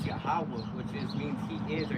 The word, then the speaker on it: Yahawah: If you read it from right to left, but to translate it to English, for pronunciation's sake, it's Yahawah, which means he is or he is to Yeah.